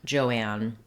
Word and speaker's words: Joan: So looking at the woman's name, Joan, letters OA say the O diphthong, the O vowel.